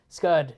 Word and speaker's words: Scud: Scud, that's right, because it rhymes with stud. Yeah, Scud.